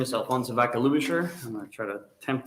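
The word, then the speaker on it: Alfonso Vaca Ludischer: our next testifier is from voices for children alfonso baca lubasher that close all right hi good afternoon my name is alfonso vaca lusher i'm to try to attempt to spell it um a-l-f-o-n-s-o and then vodka lubisher vs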